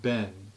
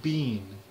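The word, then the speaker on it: been: The word ben, B-E-E-N, like the past participle of the be verb. They pronounce it bean, like B-E-A-N, like the vegetable.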